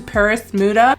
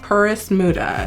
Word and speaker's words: PerisModa: a warm welcome to Paris muda it kind of sounds like Paris but it's not spelled that way I'm gonna pronounce it the way that it's spelled Paris muda so what I have